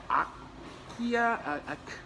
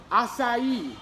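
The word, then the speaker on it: açaí: And I know I'm not gonna pronounce this right. An akia, how do you say this? How do you pronounce this? What is this, what's this called? Acai.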